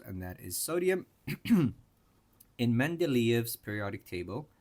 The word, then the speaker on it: Mendeleev: In Mendeleev's periodic table, that's how you pronounce it, Mendeleev, because he's Russian.